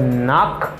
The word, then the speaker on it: knock: And here I have knock, knock. Mbagi knock, no, mbagi knock, paske let kara li mem li pa prononce.